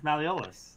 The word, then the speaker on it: malleolus: It's malleolus. It's absolutely malleolus.